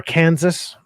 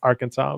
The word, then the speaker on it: Arkansas: He's in Arkansas, apparently. Or Kansas, how to say it. It's Arkansas.